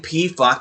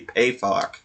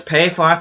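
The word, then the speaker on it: Pefok: too, and it also has to do with pronunciation. I've been saying PFOC this whole time. It's actually supposed to be PayFOC. So it's PayFOC and Lukebach that I finally did research and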